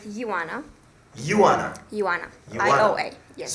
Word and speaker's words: Ioana: But anyway, so Joanna, Yes, Ioana. sir. Joanna, is it pronounced Joanna or Joanna? How do they pronounce your name here? You pronounce it Ioana.